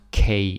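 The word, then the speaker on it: Marie Key: okay V nister okay Marie K yeah I have to remember it's pronounced K it's a little bit strange but it is what it is Marie K she she has this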